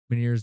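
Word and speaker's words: Ménière's: Meniere's disease, you're saying? Yeah. Okay. That's how you pronounce it.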